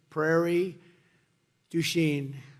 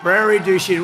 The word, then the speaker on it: Prairie du Chien: So we're here today in Prairie du Chien. Is that a good pronunciation?